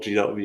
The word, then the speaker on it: G.V(): First of all, G.V is pronounced G.V. It could be sometimes a little bit confusing.